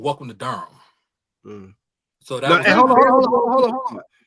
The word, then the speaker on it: Durham: It's not Durham. Go ahead, get it right. Bro. Not Durham. You spell it D-U-R-M. No. Durham. H-A-M. Durham. Nah. D-U-R-M. Durham, my brother.